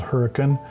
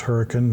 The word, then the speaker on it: Hurricane: is within walking distance of a town called Hurricane. Yes, it is pronounced hurricane, not hurricane.